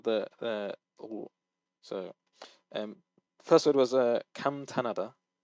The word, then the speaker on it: 감탄하다: Okay, so that was one of the so first word was 감탄하다. You need to make sure the nian is coming out, and you're not just like skipping over the word because when you say